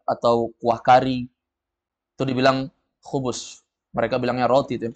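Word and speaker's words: خبز: ada yang jual hubus hubus orang bilang hu hubus tapi sebenarnya itu khubus ti bacanya hubus orang orang di sana bacanya hubus hubus itu artinya roti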